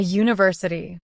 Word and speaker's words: university: A university. An uncle. University begins with the consonant sound /Y/, but uncle begins with a vowel sound.